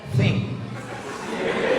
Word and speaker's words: think: T sama H itu bacanya think.